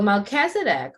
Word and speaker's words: Melchizedek: about the order of Melchizedek all right so Melchizedek pronounced Melchizedek whose name means king of righteousness is